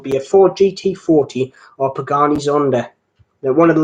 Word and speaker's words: Pagani: I'll be grateful and see the Penguins are Pagani I should say I don't know you pronounce it Pengy nah Pagani and they say when I say